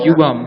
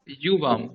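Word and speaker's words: युवाम्: যুবাম যুবাম লিখতাহ যুবাম যুবাম যুবামটা ভুল উচ্চারণ বাংলাতে করা হয় ইউবাম ইউ আমরা ইংলিশে বলি না ইউ হ্যাঁ ইউ ওই ইউটা ইউবাম ইউবাম ইউবাম ইউবাম লিখা তাহা কলমেন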